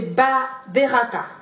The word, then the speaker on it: beraka: Et le mot bénédiction c'est beraka. Beraka, donc B-E-R-A-K-H. A-H. Beraka.